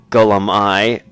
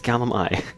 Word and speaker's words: Gulum-Ei: drop the act now gullum i or should i say gadget lie he's like no no you're pronouncing it wrong it's gallimi oh wait did you